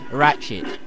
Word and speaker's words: Ratchet: __ ] for some reason but it is ratchet all right just my bad pronunciation let me off anyway will jerk and